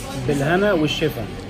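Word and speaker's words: بالهنا والشفا: Bilhana Ushifa.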